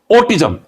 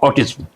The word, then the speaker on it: autism: पहले मैं स्पष्ट कर दूं, ऑटिज्म नॉट ऑटिज्म। ऑटिज्म correct pronunciation.